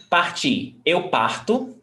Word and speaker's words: partir: So in the infinitive, the stressed syllable is the last one.